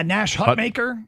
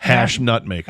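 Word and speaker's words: Nash Hutmacher: maker I tried you I tried to get you to say Hut hash nut maker hash nut maker no I did not it was Nat hush maker three-time wrestling High School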